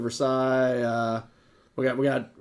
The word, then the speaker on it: Versailles: it's Lima Ohio well that's why we say for sales instead of first yeah yeah so for sales uh Ohio instead of Versailles uh we got we